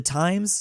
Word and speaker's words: Thames: Like your river, the Thames River, the Times.